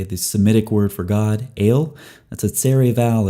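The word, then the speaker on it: אֵל: Okay, the Semitic word for God, El, that's a tsere vowel. It's two dots side by side, a long E vowel. It's actually pronounced A, as in they.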